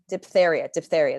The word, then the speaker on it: diphtheria: Now, what's interesting is like diphtheria, that's how it's said.